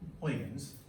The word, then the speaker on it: Huygens: Once again, his name is pronounced as Huygens.